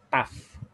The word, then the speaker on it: tough: T-O-U-G-H.